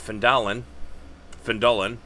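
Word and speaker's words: Phandalin: nearby human town of findallen apparently is how it's pronounced my bud um prospered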